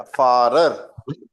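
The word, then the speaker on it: Pfarrer: P silent रहेगा। फारर, them फारर।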